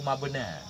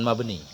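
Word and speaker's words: مبنى: Harfu mabna. Harfu mabna. Bukan mabni. Fa inna kullan minha harfu mabna. La harfu makna. Nah, itu baru benar. Nanti kita paham cara baca kita. Kalau ya enggak ada titik, kita baca di belakangnya fathah. Mabna kan? Kalau ya-nya ada titik mesti mabni. Enggak boleh mabna.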